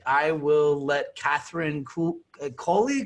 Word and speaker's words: Coley: will let catherine cool coley cooley how do i pronounce totally it's like guacamole so first off how's your day where are you at how's the weather how's life hey so catherine kohler here you can call